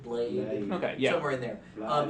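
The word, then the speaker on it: Blaidd: And Ronnie is an emprian, and she has a uh it's a Celtic name, so it's hard to pronounce. It's bl i d. Blide blade.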